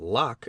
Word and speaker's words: Locke: I did not know that Locke is pronounced in only one syllable till many years after